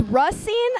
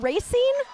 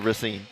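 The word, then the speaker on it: Racine: It's Russine, not racing. Wait, but I love Yeah, Russine. Russine, but I love A League of Their Own and I always thought it was racing.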